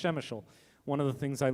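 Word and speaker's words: Przemyśl: in shemeshol poland yes shemeshol p-r-z-e-m-y-s-l pronounced shemeshel one of the things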